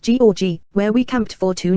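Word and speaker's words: Gjógv: then on to the magnificent job pronounced g where we camped for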